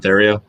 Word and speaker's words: Theriot: Theriot. Yeah, Theriot. Theriot. It's like, I think the French say it like Theriot.